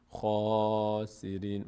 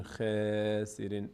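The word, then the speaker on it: خاسرين: باز میشه مثلاً میگیم میگیم میگیم خاسرین مثلاً خا نمیگیم خ سیرین دهان به سمت بالا باز میشه اگر پر خوانده نشد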